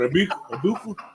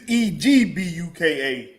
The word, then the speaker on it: Egbuka: What, Abuka? It's Egbuka. Okay. Oh, everybody been forgetting the G, ain't they?